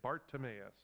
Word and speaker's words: Bartimaeus: a man named bartimaeus try to say his name bart timmius his daddy's name was